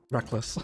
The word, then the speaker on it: Reckless: A fun way to pronounce Reckless? Yes, Reckless would be a better way to pronounce other than Reckles.